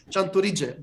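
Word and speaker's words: Tchantouridzé: So, CHANTOURIDZÉ, did I pronounce well?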